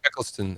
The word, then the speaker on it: Eccleston: never get it right a clicklisted all right Eccleston Eccleston Eccleston okay thank you I know every time I've pronounced it everyone's been like cringing I'm butchering